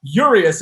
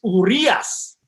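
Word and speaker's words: Urías: when you guys start talking about yurious it's urias now you don't have to do the the tongue right that will never happen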